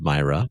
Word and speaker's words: Myra: Is that how you pronounce it? Yes. Today, the church commemorates Nicholas of Myra.